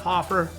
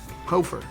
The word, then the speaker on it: Hoferer: i'm pretty sure i my family pronounces it hofer but uh dude it gets butchered constantly it's h-o-f-e-r-e-r it makes no sense there's a silent er on the end of my name and this is my